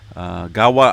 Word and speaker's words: Gaua: of the vanuatu area gawa i believe is how you pronounce that volcano in the vanuatu area